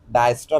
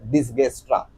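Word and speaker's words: Dijkstra: डायस्ट्रा भी प्रोनाउंस कर सकते हो या फिर डिसगस्ट्रा। ठीक है? आपको जो प्रोनाउंस करना है वो। लेकिन मोस्ट ऑफ दी स्टूडेंट्स और मोस्ट ऑफ द फैकल्टीज उसको डायस्ट्रा एल्गोरिदम से ही प्रोनाउंस करते हैं।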